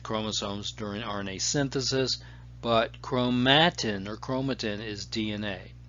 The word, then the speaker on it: chromatin: Chromatin is a complex of DNA and protein. Chromatin, some people pronounce it chromatin, and that's okay.